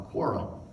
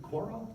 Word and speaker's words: Quora: And I came up with a Quora. Is it Quora? Quora? How do you say that word? Is it Quora? Okay. Somebody corrected me once and said, no, it's not Quora, it's Quora.